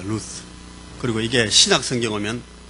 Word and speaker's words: 룻: 여러분 이 룻기를 룻을 정확하게 발음하면 이게 룻이 아니고 루스입니다. 루스.